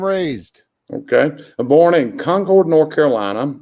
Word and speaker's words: Concord: I'm born in Concord, North Carolina. That is pronounced Concord, not Concord, like they say it in Massachusetts up north, which is a small cotton mill town very near Charlotte, North Carolina.